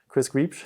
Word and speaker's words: Griebsch: Well, I'm Griebsch. There you go. There's a correct pronunciation. Correct is Griebsch. There you go. That's a very German way.